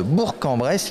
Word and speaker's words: Bourg-en-Bresse: deux jours au maire sur la ville de bourg-en-bresse il faut prononcer comme ça vous êtes chargé de la